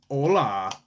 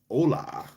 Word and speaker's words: hola: Ah, the H is silent. So, it's Hola.